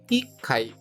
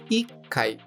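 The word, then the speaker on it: 一階: Com atenção, pois apesar do número 1 ser, de modo geral, ichi, neste caso específico, a sílaba chi é retirada e colocado o chisaitsu, que é aquele tsu pequeno, indicando uma pausa rápida antes do kai, ficando ikai.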